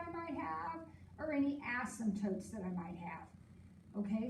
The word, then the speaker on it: asymptote: like the intercepts and asymptotes yep page number three remember when we say the word asymptote the p is silent all right does it